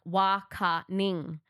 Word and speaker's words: Waangkiny: Waangkiny, people have been mispronouncing that. It's so funny, but it's like Waangkiny. It's not spelt like that. Waangkiny. Yeah. So like it's not spelt like that, but obviously with the Noongar dialect, we have different ways that we pronounce things. There's a letter there, but you don't say the letter.